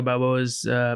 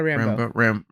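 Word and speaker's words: Rambeau: How do you say her last name? Monica Rambo. Rambo. Oh, you're right.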